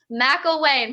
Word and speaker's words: McElwain: um uh already blanking on how to pronounce it homie mcelwain mcelwain perfect okay um so before we get right